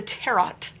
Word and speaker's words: tarot: to be written H there's a te that's silent the tarot the tarot for one